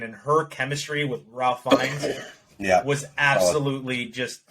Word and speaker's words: Fiennes: I think it's pronounced Fiennes.